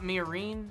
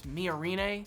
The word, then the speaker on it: Miorine: Also, it just dawned on me that I have just been mispronouncing her name this entire time. Apparently, it's not Miorine, it's Miorine, so sorry.